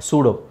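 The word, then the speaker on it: pseudo: ಅಲ್ಲಿ ಬರುತ್ತೆ okay ಸೂಡೋ ಸೊ ಇಲ್ಲಿ ಪಿ ಸೈಲೆಂಟ್ ಆಗಿದೆ ಇ ಸೈಲೆಂಟ್ ಆಗಿದೆ ಬರಿ ಯು ನ ಪ್ರೊನೌನ್ಸ್ ಮಾಡಬೇಕು ನೀವು ಎಸ್ ಯು ವಿಚ್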